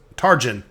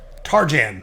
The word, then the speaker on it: Tarjan: just kind of like no it wasn't Trajan it was tar gen excuse me target you got to make sure I pronounce names correctly in this let's play because I know I'll get a lot of heat if I don't Tarjan kind of like Tarzan but with the J I wouldn't sold everything